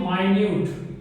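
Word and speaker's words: minute: MINUT, यही spelling है, लेकिन इसको बोलते हैं माइन्यूट, माइन्यूट, क्या बोलेंगे माइन्यूट, प्रोनाउंसिएशन ध्यान से देखिएगा माइन्यूट, और इसको तो वही बोलते हैं मिनट, मिनट मतलब क्या होता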